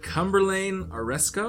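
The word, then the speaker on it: Cumberlayne Aresko: Cumberlane Oresco?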